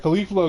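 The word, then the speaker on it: Caulifla: Her name's like Khalifa though.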